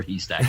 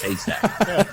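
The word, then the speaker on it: Haystack: stack and I see it's not stack or he stack it's hay stack but I like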